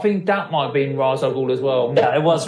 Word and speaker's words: Ra's al Ghul: Ra's is really cool, and it is Ra's. I don't care what the cartoon says. It's not Raish. It's Ra's al Ghul, because that means the demon.